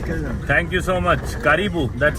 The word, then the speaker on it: karibu: Karibu. That's how you say it, right? Karibu, yes.